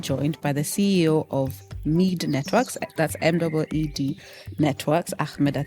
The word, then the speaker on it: Meed: I'm joined by the CEO of ME networks.